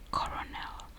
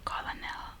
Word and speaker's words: colonel: So the way I would pronounce it or say it would be coronel, or colonel. I'd be like colonel or coronel, because that's how it's spelled, like how is it written colonel but it's pronounced colonel.